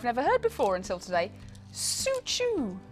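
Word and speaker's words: Soocho: We have then also got, and this is a name I've never heard before until today, Suchu. Not Sutsu, Suchu. Suchu jade, which is spelled S-O-O-C-H-O.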